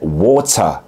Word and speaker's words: water: telaffuz edilir yani Örneğin su kelimesi İngiliz ingilizcesinde water iken net bir T iken Amerikan ingilizcesinde Water Neden Çünkü t harfi iki tane ünlünün arasına geldi a ve e harfinin arasına geldi şimdi bu Kural Evet